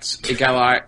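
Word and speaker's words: égalité: know them know that if there's an accent above the e at the end of the word in French you pronounce the e will under the start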